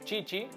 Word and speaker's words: Tite: O, como dirían en portugués, Chichi. En realidad en español le decimos Tite, pero no está bien pronunciado. Pero bueno, si digo Chichi,